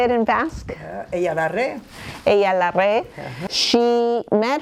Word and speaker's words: Eyalarre: Ella la re.